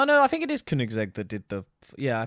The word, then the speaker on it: Koenigsegg: The fastest car in the world now, I'm sorry about butchered, it's a Swedish name, is the Koenigsegg. No, the Koenigsegg. Koenigsegg, that's it, Yeah.